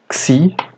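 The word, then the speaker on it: Ξ: Depois temos a letra Xi, cuja pronúncia é como o X de taxi.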